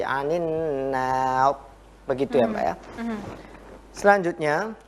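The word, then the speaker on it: النار: Jika kita berhenti di nar, maka ro ini harus tebal. Anin nar. Tetapi yang tebal itu ro-nya, bukan alifnya. Ada yang membacanya anin nar. Itu salah. Ya. Di akhirnya berarti. Ro-nya yang tebal, bukan anin nar, tapi anin nar.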